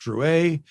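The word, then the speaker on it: Drouet: meets Juliet Dru and d r o u t maybe pronounced Dru I'm gonna say Dru in my American way while his own wife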